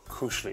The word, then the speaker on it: koselig: In my culture, there is something called koselig. Koselig. Am I pronouncing that right? You're close. Pretty close.